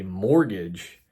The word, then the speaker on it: mortgage: Well, first, the whole idea of a mortgage, it rhymes with mortician.